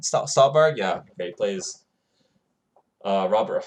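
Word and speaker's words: Stuhlbarg: Did I pronounce his name right? Stolberg, yeah.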